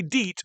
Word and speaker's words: Diet: I know it says diet, but it would have been pronounced Diet.